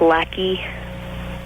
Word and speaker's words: Lacey: Lacey, Hello? you're 19. Yeah. What's up? Okay, actually, it's pronounced lackey.